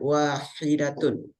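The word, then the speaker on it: واحدة: muzakarnya atau laki-lakiakarnya maka bacanya wahidun kalau muanasnya bacanya wahidatun nah perhatikan ada ta marbutnya Kanah kemudian yang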